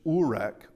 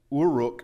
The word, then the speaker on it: Uruk: There is another pronunciation from that uh in the Sumerian which is Urek. Uruk rather.